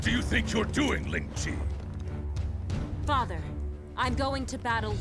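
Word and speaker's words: Lingqi: Ling Chi. That's how you pronounce it.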